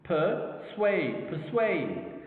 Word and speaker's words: persuade: Now let's look at this word, persuade, persuade, 2 syllables per, and swayed, persuade. Okay, of course you can see like the dominant or the stressed word, okay, is in the 2nd syllable, swayed.